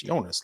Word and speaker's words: Jonas: He's like, it's Jonas, like with a Y.